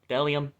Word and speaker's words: bdellium: Is that actually how you pronounce it? Bdellium? Is that just a silent B?